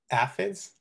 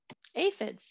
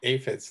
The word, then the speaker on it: aphids: ants with the um acids did i pronounce that right aphids yeah aphids thank you yeah uh